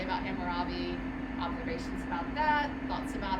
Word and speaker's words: Hammurabi: right you're saying it right him hammer Robin Hammurabi we talked about Hammurabi on Monday and I I'm gonna just pause and ask does anyone have any things you wanted to say about Hammurabi observations about that thoughts about our our activity